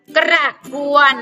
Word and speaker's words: กระบวน: หาย ไป นะ คะ จะ ระวัว เมื่อ เจอ ตัว สะกด ไม้ หัน อากาศ จะ หาย ไป เป็น พยัญชนะ รถ รูป นะ คะ อัน นี้ อ่าน ว่า กระกวน กี่ ครั้ง กระบวน นะ คะ ใต้ หน้า